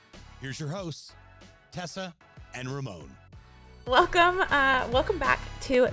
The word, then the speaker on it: Ramón: it is first and first and foremost it's pronounced Ramon um for everybody that gets that wrong which is very common it is Ramon so um Ramon we're going to go ahead